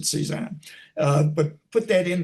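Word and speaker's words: CSAAHN: Simply go to Internet Archive and search for Sezan. Now, that's C-S-A-A-H-N. I pronounce it Sezan.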